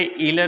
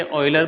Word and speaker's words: Euler: दोस्तों, इसे इलर नहीं कहा जाता। इसे ऑइलर प्रोनाउंस किया जाता है।